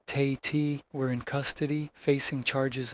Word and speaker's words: Tate: Evelyn Carver, pronounced Carver, and Roland Tate, pronounced Tay-T, were in custody, facing charges of kidnapping and extortion.